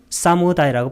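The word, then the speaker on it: samudaya: 두 번째는 두카 사무다야 이 쌈 우다야 의미론적으로는 이렇게 끊어야 돼요. 음성학적으로는 사무다야라고 발음하는데 쌈이 함께 강조어고 우다야 이게 바로 일어난다는 거예요.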